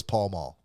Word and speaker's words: Pall Mall: I know it's Pall Mall. I say Pale Male. You say It's potato? P-A. I say That's potato. it's literally on the box. It's spelled P-A-L-L-M-A-L-L. Pall Mall. I pronounce that Pale Male.